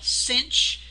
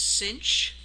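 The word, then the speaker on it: sinh: they're what we call cinch uh the way we would pronounce this is cinch this is Kos um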